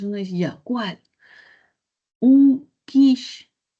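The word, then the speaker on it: quiche: Un quish. que bueno se escribe quiché, ¿no? Pero un quis que es como se pronuncia un quish de poro.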